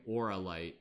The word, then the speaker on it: Auralite: Auralite is spelled A-U-R-A, opposed to like oral, like it's like aura, like Auralite, A-U-R-A-L-I-T-E.